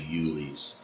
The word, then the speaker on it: Uhle's: I guess I was pronouncing it wrong the entire time, so it's actually Uhle's.